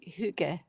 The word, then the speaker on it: hygge: So Hygge. I could be, it's something like that. Yeah, Like yeah. you say a Y with a O-shaped mouth. Hygge.